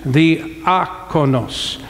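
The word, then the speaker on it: diakonos: It's the akonos. It's on the emphasis on the second syllable. I'm trying to put it in English. The akonos.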